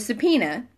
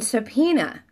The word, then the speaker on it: subpoena: what I'm sorry with subpoena and I noticed that there's an O and an E hello miss Pookie there's an O and an e in subpoena but we only pronounce the e it's not that the